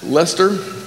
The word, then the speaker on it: Leicester: Born in the United Kingdom, Martin Elvis got his PhD at the University of, how do you pronounce that? Leicester.